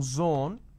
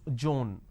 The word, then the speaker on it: zone: pronounce this as pays instead of pronouncing Zone they pronounce this as Joan now zone is different Joan